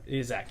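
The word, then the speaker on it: Zech: Did I pronounce it right? Zach? Zach, yeah. Z-E-C-H. Yeah, so.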